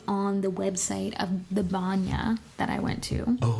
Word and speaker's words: banya: the website of the banya that I went to. Oh, okay. Which is the Russian spa. And so, Sorry, how do you uh banya? No, banya. Oh, banya. a n y a.